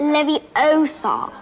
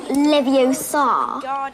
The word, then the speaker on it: Leviosa: It's Leviosa, not Leviosa. You do it then if you're so clever. Go on. Wingardium Leviosa. Wingardium Leviosa. Oh, well done! See here, everyone. Miss Granger's done it. Splendid. Wingardium Leviosa.